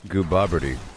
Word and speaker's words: Gooboberti: pretty awesome right there uh my channel is pronounced go bobbery go bobbery don't you know and this is